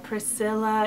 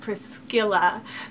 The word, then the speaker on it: Priscilla: I love the AZ spelling although some people spell it as as well number seven is Priscilla Priscilla is a Roman dominative of the name Prisa